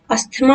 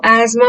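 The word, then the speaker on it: asthma: अस्थमा नहीं कहेगा कोई, प्लीज इसे इज्जत बचा के इसको एजमा प्रोनाउंस करेंगे, ठीक।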